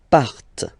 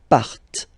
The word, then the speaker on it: partent: Okay, and the last persons, il, elle, partent. Remember, classic ending, ENT, but then you don't pronounce them, partent. Partent.